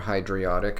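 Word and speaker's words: hydriodic: uh hydrochloric hydrobromic and hydroiotic or hydriotic if that's how you prefer to pronounce it uh sulfuric nitric perchloric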